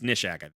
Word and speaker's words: Nishak: I guess Nishak. I've been changing the way I pronounce the name. It's Nishak.